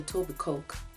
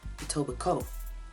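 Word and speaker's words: Etobicoke: County within Toronto called I know it looks like a toic Coke or EOB Coke whatever you want to call it however it's pronounced itoba Co just aoba Co the K is silent it toi Coke why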